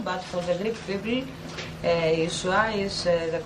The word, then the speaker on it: Yeshua: diante do nosso público que este nome, de maneira alguma, se pronuncia do jeito Jesus ou Jesus, mas sim Yeshua.